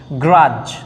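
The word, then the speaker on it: grudge: গ্রাজ, ডিটা উচ্চারণ হবে না।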